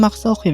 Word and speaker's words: MaxOKE: Now I've seen the name MaxOKE before (yeah I'm pronouncing it like karaoke), but I honestly didn't